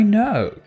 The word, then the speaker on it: know: sounds e c i know k and n when you see them together is a blend the k is silent k i know he